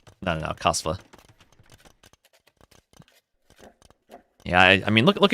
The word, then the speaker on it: Kasva: Most casters say Z instead of S. Like Kazva. No. No. Kazva.